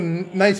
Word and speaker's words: Nice: Nice is also a nice place in France. See what I meant? Well, except nice in France is pronounced Nice.